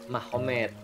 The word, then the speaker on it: Magomed: Jadi tulisnya Magomed, tapi bacanya Mahomet, kan gitu kan ya.